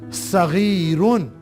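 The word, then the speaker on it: صغير: Small masculine के लिए, सगीरुन, सगीरुन, साद। साद के ऊपर फतहा, गैन के नीचे कसरा, या के ऊपर सुकून, रा के ऊपर तनवीन, दो दम्मा, सगीरुन।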